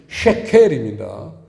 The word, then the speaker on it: 쉐켈: 칠판에 보시면 두 번째에 쉐켈이에요. 그런데 이제 우리가 발음하기 좋게 세겔 이렇게 번역을 했죠. 실제로는 쉐켈입니다.